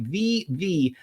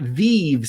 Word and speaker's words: VeVe: Veve, not Veve. So you can see that they capitalize that second letter.